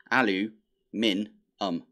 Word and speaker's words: aluminum: chromium, stainless steel, and aluminium. Although it's been pointed out to me that that is spelt differently. So it is alu-min-um. So aluminum. Which is the American way of saying it, and it's the American way of spelling it.